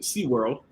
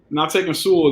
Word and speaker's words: Sewell: The Bengals, obviously, not taking how Jerome loves to pronounce it, SeaWorld. Not taking Sewell there.